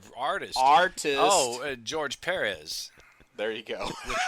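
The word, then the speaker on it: Pérez: Oh, George Perez. There you go. The accent mark over the first E. Yeah. Yes. It's not George Perez.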